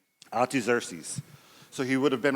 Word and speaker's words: Artaxerxes: I wrote it down phonetically too, but it's Artaxerxes.